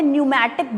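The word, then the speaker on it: pneumatic: और इस तरह की बोन्स के लिए खास टर्म है न्यूमैटिक बोन्स. पी साइलेंट है, न्यूमैटिक बोन्स.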